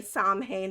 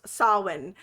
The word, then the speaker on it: Samhain: If I phonetically say Samhain, it's because I'm reading my notes and it's spelt that way, but it is pronounced Samhain.